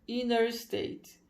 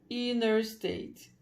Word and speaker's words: interstate: Então se escreve exatamente assim, mas na hora de falar, a maioria das pessoas não vai pronunciar este Tzinho, né? Provavelmente porque tem um N antes. Então, ao invés de ser interstate, interestadual, né? Ao invés de ser interstate, vai ficar inner state.